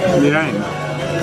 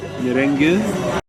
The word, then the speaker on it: meringue: Can you pronounce this for me? Meringue. Say it. Meringue. Oh, you said it wrong a second ago. You said it was so weird. Merengue.